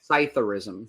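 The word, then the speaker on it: psithurism: How do you say it? It's still there. Scytherism. Scytherism. Correct. That is silent P.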